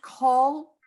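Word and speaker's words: כל: because it means all and it's and it's pronounced call call as an oh it's anything else okay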